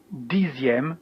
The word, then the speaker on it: dixième: Here you can see that the F of neuf becomes a V, neuvième, and dixième with the same pronunciation Z here.